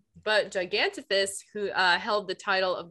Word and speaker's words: Gigantopithecus: I wasn't reading it as a soft PH. I was reading it as a hard P. I was like, this cannot be right. but Gigantopithecus, who held the title